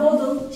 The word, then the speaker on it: bottle: Bu arada İngilizce'de iki T yan yana gelince Diyarbakır'ın D'si gibi okunur. It doesn't matter. Mesela bottle, şişe demek. Mesela better, daha iyi demek. Şu T'ler yan yana geldiğinde Diyarbakır'ın D'si gibi okunuyor.